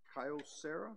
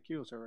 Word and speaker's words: Kyocera: Systems and consider a contract lease agreement with Kyocera. Is that how you pronounce that? Yes, sir. Yes, sir. Kyocera.